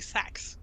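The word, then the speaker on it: seax: last time that probably the best way to pronounce it in Modern English would be sax like a saxophone sax okay long sax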